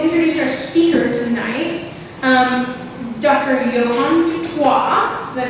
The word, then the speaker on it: Johan du Toit: Johan Toit, did I pronounce that right?